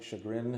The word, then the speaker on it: Chagrin: Shagrin. Is that right? Dispatch. Yep. I know a lot of people mispronounced it.